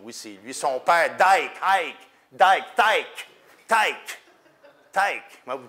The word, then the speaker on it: Thicke: Son père, Tyke. Comment vous prononcez en français? Tyke. Alan Tyke, comment il s'appelle? Comment? Alan Thicke, exactement.